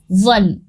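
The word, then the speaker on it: one: इनको प्रोनाउंस करके देखिए, इसको हम कैसे पढ़ेंगे, वन, वो आ रहा है, तो वह तो हमारा कॉन्सोनेंट साउंड हुआ।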